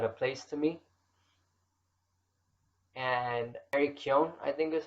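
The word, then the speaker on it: Barry Keoghan: And Eric Kyon, I think is how you pronounce his name, who played Druig in the Eternals.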